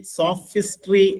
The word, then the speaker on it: sophistry: നല്ലൊരു വേർഡാണ്, SOPHISTRY. SOPHISTRY. സോഫിസ്ട്രി എന്നാണ് ഉച്ചാരണം.